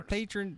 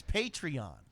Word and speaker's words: Patreon: will buy the foress I'll spent $600 the patron the patron program is a crowdfund I mean it's essentially crowdfunding so it's kind of irking me that you keep mispronouncing it's patreon patreon yes the people it p p a